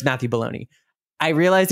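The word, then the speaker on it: Belloni: realized yeah it's Matthew baloney I realized it sounds like baloney like the meat but it's like b-e-l-l-o-n-i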